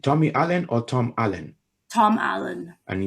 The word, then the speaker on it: Tom Allen: Tom Allen. And it's spelled Alenig.